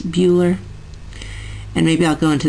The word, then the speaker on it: Bueller: And by the way, it's pronounced Bueller, like Ferris Bueller.